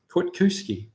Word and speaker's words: Kwiatkowski: pronounced Kwiatkowski. Okay. I would not have guessed that. I'm glad you explained that one, and now time remains to be seen whether I remember. But hey, I'll try. Kwiatkowski. Wow, that's an unusual pronunciation from looking at the spelling.